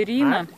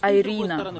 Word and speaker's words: Ирина: Вот у меня подруга Ирина. Островок Ирина. Ее муж, ну и все там его родственники, они не могут говорить Ирина, они говорят Айрина. Айрина.